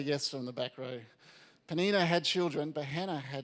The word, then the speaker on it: Peninnah: Do you reckon it's Peninnah? Good. I got a yes from the back row. Peninnah had children, but Hannah had none.